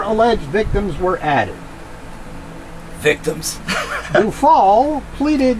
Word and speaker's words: Dufault: Then it's Dufault. Miss Dufault. Because the T at the end of a French word is silent.